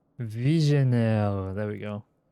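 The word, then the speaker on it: Vigenère: Visionaire. Visionire. There we go. Visionaire.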